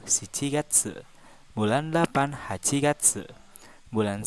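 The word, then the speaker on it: 七月: Wulan 5 gogatsu bulan 6 rokugatsu bulan 7 shichigatsu bulan delapan hachigatsu bulan 9 ke Gatsu bulan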